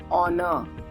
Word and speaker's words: honor: We do not say it is an honor to meet you because we pronounce the word honor. The alphabet H is silent.